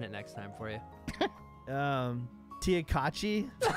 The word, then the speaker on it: Tchotchke: It's Tchotchke.